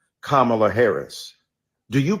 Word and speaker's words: Kamala: insisted upon misnaming mispronouncing Kamala Harris do you call Melania Melania do you call Ivanka Ivanka then call Kamala Kamala then call vice president